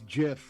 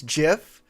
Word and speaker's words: GIF: iconic spell jammer stuff in this game it's jif i checked it's jiff it's i i pronounce it guys just to kick everybody off